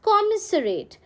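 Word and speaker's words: commissariat: Next word हमारा है कॉमिसरेट. हाउ डू you pronounce? You pronounce it एज कॉमिसरेट.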